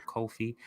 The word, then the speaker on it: Ko-fi: Looks like that's their coffee. Kamali said we've been pronouncing it wrong this whole time.